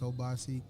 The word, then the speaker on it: Obasi: Brother Obasi, I'm pronouncing that correct? You're right. You're actually pronouncing it. It's Obasi.